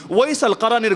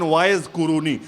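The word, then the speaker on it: Uwais al-Qarni: যারা আসমানে বড় দামি ওয়াইস আল কারীর ঘটনা কে না জানে যারা বাংলায় আপনারা বলেন ওয়াইজ কুরুনি ওয়াইজ কুরুনি ভুল উচ্চারণ মূল হলো ওয়াইস আল কারী তাকে নিয়ে হাদিস সহি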